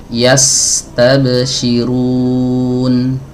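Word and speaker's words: يستبشرون: fokus kepada aliran suaranya ya. Aliran suaranya yastabsyirun ya atau saya membacanya dengan tempo yang lebih lambat ya supaya lebih jelas lagi. Yastabsyirun.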